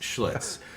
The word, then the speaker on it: Schlitz: about another shitz how about another shs it's pronounced Schlitz and right off the bat we're getting we're